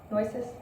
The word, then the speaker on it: Nueces: N-U-E-C-E-S, Nueces?